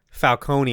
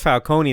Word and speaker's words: Falcone: which by the way they mispronounced falcone the entire movie just so that they can call it falcon which i'm like cool that's not that character's name but that's fine i've heard him called falcone by like other people